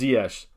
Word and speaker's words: Ziyech: blah blah blah blah says it's pronounced ziesh he said it himself yeah so it's pronoun